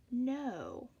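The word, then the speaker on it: know: might see that in words like grow or no which has a silent K oftentimes these patterns will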